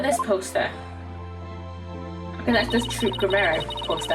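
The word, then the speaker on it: Troupe Gramarye: Okay, that's this Troop Grammere poster, and I said it right this time instead of Group Tremere.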